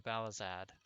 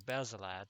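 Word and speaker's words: Baselard: I attempted logging into Balazad. Or Basilad, sorry, I keep pronouncing that wrong.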